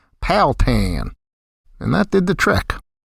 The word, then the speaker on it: Powhatan: The townsfolk tended to slur the three syllables into two, which I tried in my Yankified way, Powhatan. After being corrected several times, I finally threw caution to the wind and twanged up my pronunciation to sound like them, Powhatan.